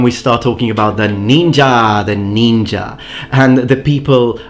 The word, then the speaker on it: ninja: have been used but ninja is made of two characters the first one pronounced nin in yomi and the